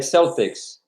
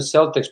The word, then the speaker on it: Celtics: killed because of boston celtics probably yeah but even just the cel here is pronounced as cell you know cell double